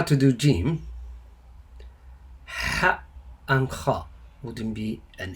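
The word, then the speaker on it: حاء: It's like H-A, Ha, but under it. Ha, Ha, Ha. Try to pronounce it. But there's no letter that equivalent to it in English.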